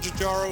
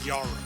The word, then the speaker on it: Jjaro: My preferred pronunciation of the word Jjaro is based on the conventional pronunciation of the word Kilimanjaro, although some prefer the pronunciation Jjaro.